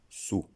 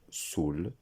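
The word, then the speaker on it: soûl: Dans les deux orthographes, la prononciation est la même, sous, comme l'adverbe S-O-U-S. On ne prononcera pas soul, ni Saoul. Une petite remarque, le L final est muet, mais lorsque l'adjectif se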